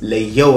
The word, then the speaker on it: Le-Yo: It's spelled Leo, and my artistic name is Leo, like Neo, but with so exactly.